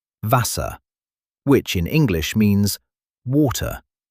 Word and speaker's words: Wasser: For example, the letter W, Wasser, which in English means water. The W sounds like an English V, and the German V